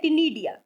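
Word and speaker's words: ctenidia: Then बच्चों एक term दे रखा है टिनीडिया, सी साइलेंट है, टिनीडिया।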